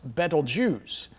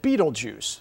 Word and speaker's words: Betelgeuse: armpit of the central one and is correctly pronounced betelgeuse but most people pronounce it beetlejuice so they can remember it because if you